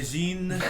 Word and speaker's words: Sahuagin: Sahuagin. It's like French. You just don't pronounce any of the consonants.